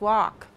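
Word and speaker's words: wok: Exactly, it's walk. That's it. Have you ever used this to cook? You ever use that? They are pronounced exactly the same.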